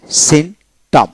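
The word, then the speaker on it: symptom: আসেন সাইটিস্ট সাইস্ট মনোযোগ বিশেষক তারপর আসেন এখানে সিনটাম Synnott S ওয়াই এস ওয়াই এম সিম সিম টি ও এম টম সিটম পির উচ্চারণ হলো না তার হল প্রম প্রচপি আর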